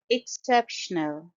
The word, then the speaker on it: exceptional: awesome in red dress exceptional it's a four syllable word I have underlined all the four syllables in the fimic script and stress is on the second syllable exceptional s and the